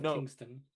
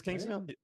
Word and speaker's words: Kingstown: mayor Kingstown I for I think got the name wrong the mayor Kingston yeah I think it is a mayor of Kingstown it's Kingstown yeah I don't know the Jeremy rener show